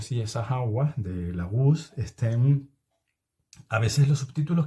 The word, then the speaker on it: Laguz: Te cuento que la GUS es con Z, lo que pasa es que yo no la pronuncio.